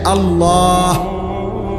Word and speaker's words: আল্লাহ: কিন্তু পারতেই হবে পারবে এজন্য এটা খেয়াল করেন হা পুরা স্পষ্ট বিশুদ্ধ উচ্চারণ হইতে হবে শেষে আল্লাহ শেষে একটা গোল হা আছে ছোট হা আল্লাহ মানে আল্লাহু তো